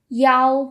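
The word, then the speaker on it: 幺: The number one number one which typically is e is often pronounced yao when it's in the sequence of numbers. And that's to avoid confusion with the number seven chi because chi and e they can sound kind of similar.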